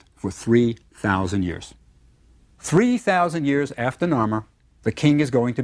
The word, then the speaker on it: Narmer: Now, the fish was pronounced nar, and the chisel is pronounced mer. Narmer.